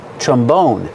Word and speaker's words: trombone: is called a trombone put the stress on the second syllable trombone this is a trombone